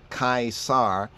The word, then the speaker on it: Caesar: Kazar Kaiser Kaiser Kai that's why it's c-a-e not just khazar but Kai the A and the E has an ie ie sound kaisar but sometimes we do